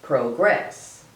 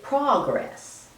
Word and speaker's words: progress: verb most people say progress but as a noun people usually say progress I don't know why the pronunciation changes and then there's the emphasis on the first syllable versus the second syllable so there's progress and